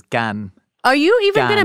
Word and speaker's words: Cannes: And some people are like, no, it's con. And I'm like, no, the French vowel sounds are just different. There's no proper, the only way to pronounce it is in French, which is Cannes.